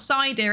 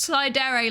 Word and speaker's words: sir: I'm not sir. It's not pronounced like that. It is pronounced cider like sundere or der dere or yandere. Whatever is your preferred personality type. It's not dear. I'm not a deer.